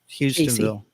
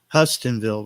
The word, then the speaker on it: Hustonville: Casey County Kentucky uh houstonville some people call it hustonville but we pronounce it houstonville even though it's not spelled with an o hi yard food thanks